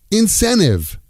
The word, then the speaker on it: incentive: Incentive. Incentive becomes incenive. What's my incentive to keep doing this?